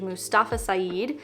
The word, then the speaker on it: Mustafa Saeed: This new stranger is named Mustafa Saeed, pretty sure that's how you say his name, and he essentially tells our narrator his life story.